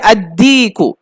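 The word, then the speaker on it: الديك: শামসি হলে আল উচ্চারণ হবে না, আর কমারি হলে উচ্চারণ হবে, এইটা খেয়াল রাখতে হবে। যেমন কমারুন, এর শুরুতে কি হবে, আল কমারু। তারপর দিকুন, এর শুরুতে আল বসিয়েছে, তো কি হবে, আদিকু।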